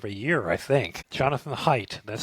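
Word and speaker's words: Haidt: Jonathan Height, that's spelled H AI DT, is the author.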